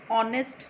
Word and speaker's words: honest: Similarly, an honest man. Here honest also we are not pronouncing H. We are only pronouncing the H is silent and we are pronouncing only the vowel sound of O.